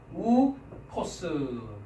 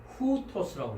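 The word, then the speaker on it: οὗτος: 그 다음에 강한 거친 순표는 히읗 발음을 첨가한다고 했습니다. 그러니까 순표가 있기 전에는 오미크론, 윕실론 하니까 이게 이중 모음입니다. 그렇죠? 네. 그래서 우 발음입니다. 우. 그렇죠? 그래서 우토스 해서 이렇게 우토스라고 발음을 해야 될 텐데 강한 순표가 이렇게 윕실론 위에 붙어 있죠. 그렇죠? 네. 이중 모음이기 때문에 역시 두 번째 왔습니다. 그래서 우토스라고 하지 않고 히읗 발음이 들어갑니다. 그래서 후토스라고 했습니다. 후토스.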